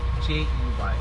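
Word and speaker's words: Jey: It's spelled M-A-S-H-A-A-L. So that's M-A-S-H-A-A-L. And your bus driver's name is J-E-Y.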